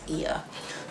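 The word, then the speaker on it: Oia: oya but it's not i think it's ear this is what i heard a local say so correct me if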